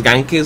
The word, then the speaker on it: Ganque: rollo dije Bueno pues Gan que suena como una mezcla entre alemán e italiano que era idias que